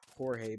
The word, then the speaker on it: Jorge: ] george i mean that is his name just pronounced differently whatever mexicans was mexicans will understand it's jorge but george george is way better to say than jorge not only people think